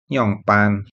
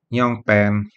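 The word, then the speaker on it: 样般: bisa pakai nyonge atau nyongpan nyongpan juga ada orang yang bacanya Nyong pen tergantung logat daerahnya tidak masalah sama-sama betul dan terakhir ada kata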